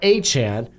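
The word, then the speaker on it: Achane: his name right because he changed it Devon a Chan he went off last week I think he's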